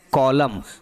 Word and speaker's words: column: Okay, जैसे कॉलम बोलते हैं तो क्या लिखते हैं, COLUMN लिखते हैं ना, तो इसको पढ़ते क्या है, इसको हम लोग पढ़ते हैं कॉलम।